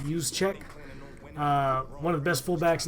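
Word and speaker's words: Juszczyk: represent them use check I know you can't pronounce that that is pronounced use check one of the best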